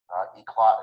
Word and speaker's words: Eclat: Eclot is spelled ECLAT.